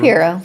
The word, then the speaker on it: Shapero: Is it pronounced the same or just Shapiro? Shapiro.